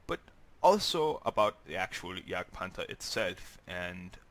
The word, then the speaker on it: Jagdpanther: me say pant or yag panta or in future videos tigga but that's how you pronounce it in German so anyway um now